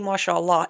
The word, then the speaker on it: Mashallah: And then he's got that Mashallah. Mashallah. Is that how you say it? Yes, mashallah.